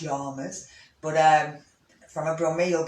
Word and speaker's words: Yamas: or yammers um and you said yammers it's probably pronounced yamas but um from abram